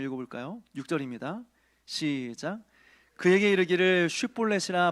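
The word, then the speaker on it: שִׁבֹּלֶת: 쉬라는 말, SH라는 발음이 안 됐던 것 같아요.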